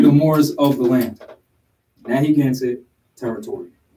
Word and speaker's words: Narragansett: Nahiganset, sometimes spelled with 2 T's. Narragansett. Europeans corrupted it, called Narragansett.